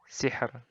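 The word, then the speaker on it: سِحْر: Nah, ro-nya di akhir ini. Bacanya tipis. Hijr. Sihr. Nah, sihr. Hijr. Nah, kayak gitu. Jadi, tipis saja. Tidak ditebalkan.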